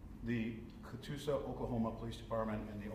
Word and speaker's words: Catoosa: I believe it is Catoosa, yes, Catoosa, Oklahoma. Did you spell that for me?